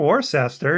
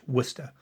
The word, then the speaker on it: Worcester: second yeah i said i know it's not warcester is it i mean it i thought i had heard that you didn't pronounce it all out you just said worcester